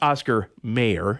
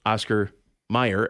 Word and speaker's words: Oscar Mayer: that made don't um it's not it's Oscar Mayer it's m-a-y-e-r in the song even the song is spelled m-a-y-e-r but everybody says Oscar Meyer m-e-y-e-r there's just a lot